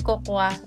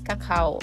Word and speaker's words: cacao: inyo nung dati par may nag-correct ka kasi saakin na hindi yun Coca It's Cacao so Ayan ngayon alam ko na na it's Cacao powder sa amin kasi n